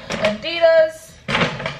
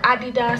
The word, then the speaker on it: Adidas: Okay, next, went to Adidas, or Adidas, however you want to pronounce it.